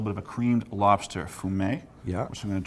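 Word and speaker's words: fumet: I think the correct pronunciation, not that I speak French, I is fum and but it's spelled f u m t.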